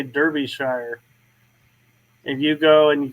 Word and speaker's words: Derbyshire: It's Derbyshire. We pronounce it Derbyshire.